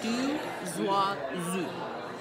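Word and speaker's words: Deux Oiseaux: The next wine that we're tasting is called a Du Zoazu, and it's phonetically spelled how it's supposed to be said, and it's a French for two birds.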